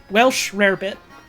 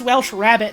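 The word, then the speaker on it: Welsh rarebit: spell it in chat it is Welsh rare bit some people think it's Welsh rabbit and they're like oh but there's no rabbit in it there's there's never been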